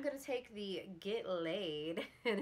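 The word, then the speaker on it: Leid: Then for blush, I'm going to take the Get Laid, and it's, you can't see it from there, but it's spelled L-E-I-D, so laid.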